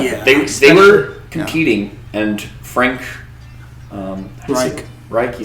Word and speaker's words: Frank Reich: Yeah, they were competing, and Frank Reich, you say it like that?